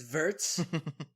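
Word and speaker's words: Wirtz: guy Nam wz wz is that how you pronounce it it's vers if you're German yeah he scored after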